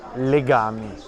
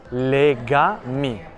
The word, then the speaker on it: Legami: Mi trovo davanti a un negozio che si chiama Legami, però in italiano questa parola pronunciata con un accento diverso, ha un altro significato, cioè legami, il verbo legare più